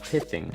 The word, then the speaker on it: pithing: That first word is pronounced pithing, and it comes from